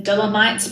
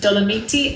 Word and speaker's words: Dolomiti: The Dolomites, pronounced Dolomiti, aka one of the most beautiful regions in Italy.